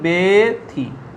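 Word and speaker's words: ব্যথী: দেখো জফলা ব্যঞ্জনের পরে, জফলাযুক্ত ব্যঞ্জনের পরে দীর্ঘইকার আছে, তাহলে তার উচ্চারণ কিরকম হবে? বেথি, বেথি, এটা উচ্চারণ।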